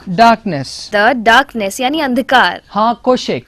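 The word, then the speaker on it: החושך: Now we pronounce it as अब यहाँ पर हम इसे ऐसे बोलते हैं ha koshek.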